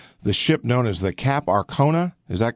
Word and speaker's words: Cap Arcona: this is about the ship known as the cap Arcona is that correct I pronounce it exactly okay your cap Arcona and in essence and I'll let you explain